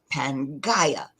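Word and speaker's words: Pangaea: one large mass called Pangia and some people pronounce it and spell it as panga either one will do so when it began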